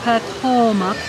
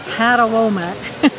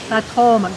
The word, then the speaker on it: Patawomeck: And it is pronounced Patawomeck, not Patawomeck. Patawomeck, just like the river.